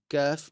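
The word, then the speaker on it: ك: because the pronunciation of kaf in Arabic is closer to the pronunciation of a light curly C in English than it is to a K in English, right?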